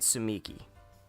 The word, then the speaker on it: Tsumiki: this answer all right so they're pronouncing it tsumiki all right so that's I guess that is the canon pronunciation that is what I will go with sneaky looks at palled